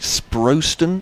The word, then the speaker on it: Sprowston: Ian, you'll have to check this pronunciation. Is it Sprowston?